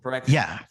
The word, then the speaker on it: Phyrexia: It's like an actual Phyrexia. Eldriane. He rhymes with anorexia, therefore.